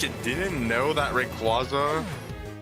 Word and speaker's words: Rayquaza: So technically Rayquaza is pronounced Rayquaza officially, but I don't think you'll ever catch me saying Rayquaza like regularly.